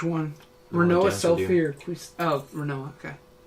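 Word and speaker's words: Rinoa: Oh, Renoa, okay. I call her Renoa. Some people are like really snobs and they call her Renoir. But I'm not going to do the French pronunciation.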